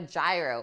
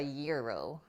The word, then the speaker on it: gyro: a donor Kebab a kebab what about a gyro or a yearo how it's actually pronounced a Greek Gyro some places it's just